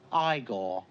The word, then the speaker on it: Igor: on no it's pronounced Frankenstein you must be eigor now it's pronounced igore but they told me it was eigor well they were wrong in weren't they so